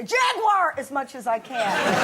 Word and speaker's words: Jaguar: oh no not a Jaguar jagar if you're going to promote them at least learn to say it properly how much say jaguar three syllables over here yeah you